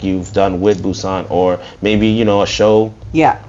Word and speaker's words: Bussant: Just imagine that there's 2 O's after the B. Bussant. That's why my logo looks like the way that it does. It's for the phonetics. I think that's how you say it. Yeah. Bussant. I mean, And the B is backwards, right?